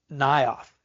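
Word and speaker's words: Naioth: him he and Samuel went and stayed in nth is how it's pronounced n a i o t h nth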